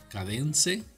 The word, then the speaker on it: Kadence: Estoy probando un tema nuevo que se llama Cadence, se pronuncia.